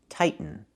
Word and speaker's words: tighten: The verb is pronounced tighten, not tightening. We cannot pronounce a t as a fast e. The word is pronounced two different ways. You can say tighten and make a real tighten. Or you can make a stop tight and then go to the end.